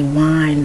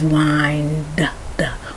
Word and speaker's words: wind: correct correct pronunciation is wind wind at least a slight hint of a d so a d d